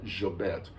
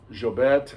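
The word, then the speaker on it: Llobet: and uh especially miguel jobette uh i say jobet it's that's how my argentine teacher pronounced the double l in spanish spelled l-l-o-b-e-t if you're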